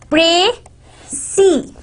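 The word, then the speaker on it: précis: Pray-see. Now you pray that you see that what is written in this whole conversation or in this whole paragraph.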